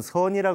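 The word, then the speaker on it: 禪: 격려다 이렇게 된 겁니다 여기서 중국 발음을 하면 차 안이 되고 일본에서는 젠이라 그러죠 그래서 우리나라는 선이라 그래서 seon이라고 하는 적을 공식적으로 쓰기로 했습니다 한국 선의 용어로는 말이죠 seon을 지금 씁니다 그래서 1960년대나 이럴 때에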